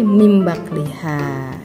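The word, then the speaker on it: مِن بَعْلِهَا: Yang kedua min bakliha ya, ketika dibaca iqlab jadi mim bakliha ya.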